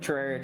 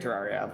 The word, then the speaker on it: Terraria: But it it's same thing with Terraria. Terraria like both are fine. Neither is correct.